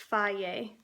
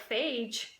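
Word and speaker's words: Fage: And it tells you pronounced Faye. Yeah, so at first I was like phage, whatever, but Faye.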